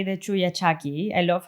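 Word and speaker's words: chullachaqui: Oh um the so in in Spanish we say the chuyaki. I love how you know the you have to teach me how to pronounce it so that people can um understand when I'm saying the word as well.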